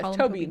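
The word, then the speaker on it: Tóibín: to toin that's what that's how yeah toin is how it's pronounced this is the sequel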